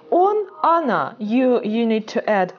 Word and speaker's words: она: We need to bear in mind one thing, that о, yes, in unstressed positions, right, is not pronounced like о, actually, like она, okay? Она, like this.